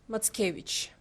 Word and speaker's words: Mackiewicz: in our blood and his last name pronounced matkevich and just following up